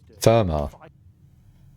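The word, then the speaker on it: Fermat: And that's what Ferma's last doing. Furma. Therma. You don't pronounce the T.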